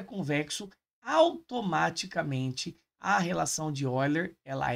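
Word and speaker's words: Euler: aqui ó relação de eiler se escreve eer aqui né mas a ele é suíço então lendo o nome dele corretamente se diz oiler Beleza então você tem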